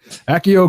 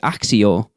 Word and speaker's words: Accio: spell and probably conjure a giant spider, but Accio Christmas.